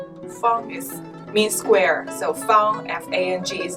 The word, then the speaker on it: Feng: look like Fang, F-A-N-G, Feng. Feng means square, so Feng, F-A-N-G, is not like Fang. No. And then there's also F-E-N-G, which is more Feng. Feng? Feng. Feng. Okay, second tone.